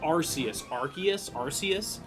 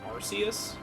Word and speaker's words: Arceus: So like for me, I've always called it Arceus. But then like, I think the official term is Arceus. But it's weird because in Battle Revolution, they said Arceus, and I think that's why I call it Arceus, is because of that.